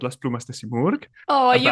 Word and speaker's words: Simurg: does a divulgación project called Las Plumas de Simurg. Oh, you pronounce it perfectly, Thank you.